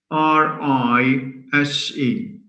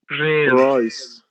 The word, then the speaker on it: rise: How do you pronounce the word rise? Raise. Rise. Rise. R-I-S-E. How do you say it? Rice.